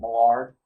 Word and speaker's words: Mallard: Sometimes if you decide that Chopin, who likes to write many of her stories based in Creole, Louisiana, you might hear it pronounced Mallard.